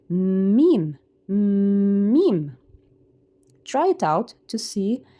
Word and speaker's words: م: So to be able to pronounce the letter M correctly, you have to feel the air here in from your nasal.